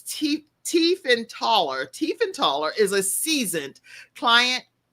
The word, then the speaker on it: Tiefenthaler: And so Abigail, and you can see how her name is spelled, but it's Tiefenthaler.